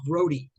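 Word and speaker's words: Grote: catcher uh yeah yeah his last name is pronounced Grody all right what is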